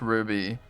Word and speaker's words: RWBY: Ruby. It's spelled RWBY.